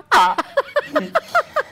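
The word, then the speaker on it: Å: Su pronunciación es algo parecido a una O.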